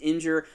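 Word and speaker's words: Imgur: sure how it's pronounced someone commented that it's actually pronounced injur I don't really know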